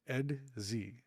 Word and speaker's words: Edxi: So the invading insect race that comes along later in the series, early and later in the series, um, spelled EDXI, is simply pronounced Edz, which was a nightmare